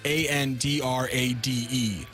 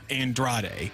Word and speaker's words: Andrade: andr but it's spelled a n d r a d e Andrade but apparently you pronounce the second D with like a g sound yeah and I have